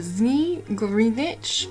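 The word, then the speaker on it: Zmey Gorynych: So it looks like this is going to be the Zni Grinich, according to a pronunciation thing I just listened to.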